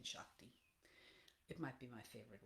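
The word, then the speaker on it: seacht: I just like saying Shakti. It might be my favorite word. Shakt. It's pronounced the very same as Shakt in Irish, is the number 7. Same exact pronunciation, spelled differently.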